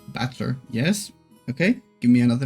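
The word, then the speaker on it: 戦人: This is made up of the characters fight and person. It's pronounced Battler.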